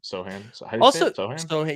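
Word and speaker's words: Sochan: big show fan yeah Sohan yeah so I say it wrong all the time but it's so Hand also Troy like listen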